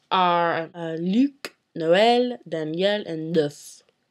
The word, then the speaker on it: neuf: The final consonants in a word are not pronounced in French unless that consonant is in the word careful.